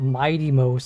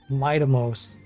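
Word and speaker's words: Mydeimos: But it's not Mighty Mos. It's Midamos.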